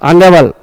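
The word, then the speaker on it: honourable: आपको आर्टिकल में ही पढ़ाया था, आवर, ऑनेस्ट, ऑनरेबल, ऑनर्ड, ये सब में साइलेंट है, एन लगेगा, यहां पर लगा दिया।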